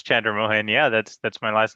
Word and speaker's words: Chandramohan: you here anything i mean if you can pronounce chandra mohan yeah that's that's my last name all right